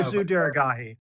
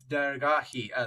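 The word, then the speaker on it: Daragahi: Or Deragi. Deragi. There you go, everyone. Deragi. I pronounced practiced it at least three times before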